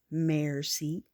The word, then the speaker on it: merci: Merci.